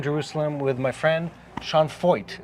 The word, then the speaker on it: Feucht: Is that how we pronounce the family name? Yes, that is correct. We were debating how. I have a friend, by the way, who's Feucht. I think it's the German original pronunciation.